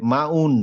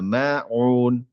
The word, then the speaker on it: الماعون: সো একটু আইনের উচ্চারণে কষ্ট দেন। মানে এই যে মাউন না, মাউন, মাউন।